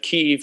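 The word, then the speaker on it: Kyiv: actually uh appreciate now knowing the uh correct pronunciation of keeve and also the spelling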